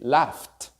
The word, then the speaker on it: laugh: Laugh or cough are spelled very crazily, but you pronounce f.